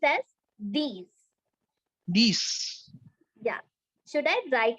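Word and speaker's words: dix: Nerf Nerf yes and number 10 is is pronounced as these these yeah should I write it in Hindi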